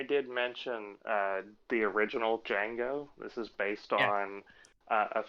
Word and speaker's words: Django: what is your name django can you spell that for me d-g-a-n-g-o the d is silent i know like how